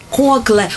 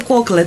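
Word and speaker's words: Coclé: Называется кокле тоже. Кокле она называется. Оно, наверное, ударение на последний слог.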